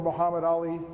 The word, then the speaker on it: Muhammad Ali: named Mehmet Ali, or Mehmet Ali, or Muhammad Ali, depending on whether you want a Turkish or a Arabic pronunciation.